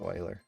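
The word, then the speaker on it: Euler: It's spelled Uler, but it's pronounced oiler.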